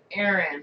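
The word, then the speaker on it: Ahren: Well, my middle name is Erin, in case anybody wants to know. And it's spelled really weird.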